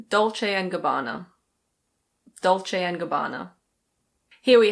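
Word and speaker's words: Dolce & Gabbana: In Italian it's something like Dolce e Gabbana. Dolce e Gabbana. But in English we say Dolce and Gabbana.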